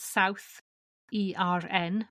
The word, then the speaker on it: Southern: of Southern England now Southern is pronounced different from how you write it you write it South E RN but pronunciation is Southern